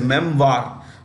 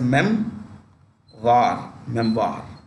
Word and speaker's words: memoir: You can say memoir, jaisa likha hai, as you see it on the screen, but you can also pronounce it as memoir. That's the right pronunciation, memoir.